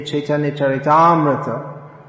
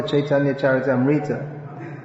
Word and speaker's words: Chaitanya Charitamrita: kick them out and we should read the chaitanya charitamrata and not the chaitanya character amrita you've all heard of caitanya